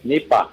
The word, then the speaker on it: Nipah: Nipa o Nipa Nipah virus. Yes. Nipa. Nipa. O parang ano Nipa Hat.